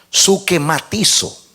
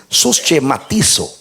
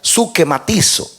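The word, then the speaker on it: συσχηματίζω: Transcrita directamente del griego a castellano, es susschematizo. Pero si usted pronuncia correctamente en el griego, sería suquematizo, como genjarqué.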